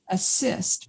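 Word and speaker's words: ACISTE: a i s pronounced assist because their whole goal is to assist people whove had transpersonal experiences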